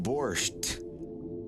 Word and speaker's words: borsch: Yeah, I always thought it was spelled with a T until I started learning Russian and it is not. The T at the end of borch is a result of the transliteration of the Ukrainian word for borch into English.